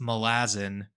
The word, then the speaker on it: Malazan: to pronounce it um I realized that it's Malazan as in like the people from malaz and Malazan or sorry